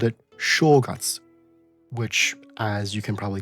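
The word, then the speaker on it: 正月: In Mandarin, it's pronounced Zhen Yue. This huge difference of pronunciation is again just due to the Japanese using an archaic Chinese pronunciation for the same word.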